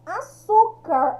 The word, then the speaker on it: açúcar: Açúcar está aqui na penúltima sílaba, tá? Açúcar, o acento agudo. Quando a palavra é acentuada, fica mais fácil da gente verificar qual que é a sílaba forte, que é aquela que tem o acento.